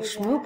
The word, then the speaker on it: Shmoop: scrolling down what is shmoop well shmoop rhymes with poop so maybe that's interesting